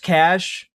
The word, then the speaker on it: cache: It's Look, I also I know it's pronounced cache. I know that. But also it looks When you have cache, cache, and cachet all next to each other, I just I just read them all the same.